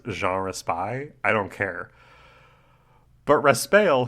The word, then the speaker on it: Jean Raspail: I'm gonna just announce for our listeners that I do know that this guy's name is pronounced Jean Raspail.